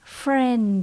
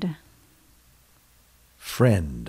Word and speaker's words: friend: a friend la bàn lưu ý chữ d cuối cùng nhé friend a friend a friend Anh tên